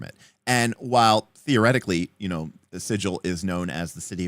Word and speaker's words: Sigil: Well, as has been told to me, the official D&D pronunciation is sigil, even though the English word is sigil.